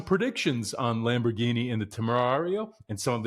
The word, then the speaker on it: Temerario: Your buddy CJ wants to get the pronunciation right. Temerario, what are we talking about here? The Lamborghini Temerario.